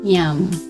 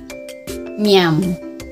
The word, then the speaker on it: ma'am: Ang tamang pronunciation pala niyan is nyam. Nyam. Parang nguyain mo yung A, tas ano, nyam.